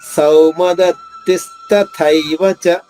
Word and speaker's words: సౌమదత్తిస్తథైవ: సౌ దీర్ఘాక్షరం, దత్తి తి ద్విత్వాక్షరం కాబట్టి దాని ముందు ఆఘాతం ఉండదు. తీ పైన అంటే 2వ తీ పైన ఆఘాతం తీసుకుంటూ స్థాలోని సా ద్విత్వం చేసుకుంటూ దాని తర్వాత ఉన్నది మహాప్రాణి, పొట్టలో చుక్కుంది కాబట్టి తాత్తాల్లో 2వ థ నొక్కి చెప్పాలి.